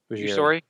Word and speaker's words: Ujiri: How do you pronounce it? Ujiri.